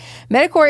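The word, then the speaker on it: MedicCorps: ever metacorp so it's medic c o r PS which is core right that's how you pronounce that so they started this company medicor is a Christian us-based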